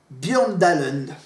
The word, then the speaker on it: Bjørndalen: C'est le Norvégien Ole Einar Bjørndalen. Voilà, Ole, voilà, comme ça s'écrit, hein.